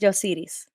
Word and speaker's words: Yosiris: can call me yossi but my name is is in spanish it's pronounced yosiris but it's nice thank